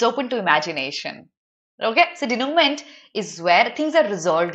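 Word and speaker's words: dénouement: You can relate it to moment.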